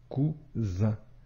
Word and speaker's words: cousin: La lettre S ici se prononce bien comme le son ze, cousin.